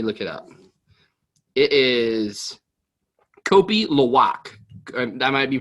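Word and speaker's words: kopi luwak: me let me look it up it is kopi lawak that might be pronounced around k-o-p-i l-u-w-a-k that might be the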